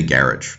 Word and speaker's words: garage: would be gaj because in French the the stress if you want to call it that always lands on the second syllable or the the last syllable essentially the the ultimate syllable as we say but in British English you would say garage and I I've never